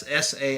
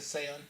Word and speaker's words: Saison: So there's a bunch of different pronunciations of this word. There's saison, saison. If you really want to get like super crazy with it, you could be like saison. Throw that little but of course.